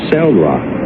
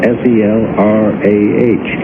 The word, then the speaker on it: Selrah: My real name is Selrah, S-E-L-R-A-H. I put a C in front of it, spell it backwards, and it makes.